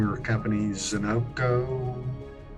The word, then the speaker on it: ZenOnco: So, you had asked me, said that please pronounce the name of your company, ZenOnco, ZenOnco.